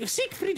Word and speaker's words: Siegfried: Sì, Siegfried, ho finalmente uno che pronuncia bene.